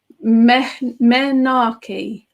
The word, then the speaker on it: menarche: Marie says it's pronounced menarche. Okay, I'm going to stick with menage because I'm dreadful at pronouncing things. But thank you, Marie.